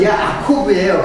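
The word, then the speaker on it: יעקב: 야곱이라는 말은 그 히브리 음력을 하면 아코브예요. 아코브. 그러니까는 그 야곱이라는 말이 이제 음력을 하면 야코브예요. 근데 그걸 갖다가 이제 우리는 이제 야곱이라고 번역을 한 거지, 히브리 본래 발음은 야코브.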